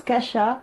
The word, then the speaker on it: Kasia: c'est cash a donc ça se prononce kasha mais on l'écrit kasia et donc j'ai répondu